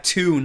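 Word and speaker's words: Tunes: Mandela effect idiot like it's t-o-o-n-e-s what t-u-n yeah tune like you're tuning in it's not tune like cartoons no yeah bro you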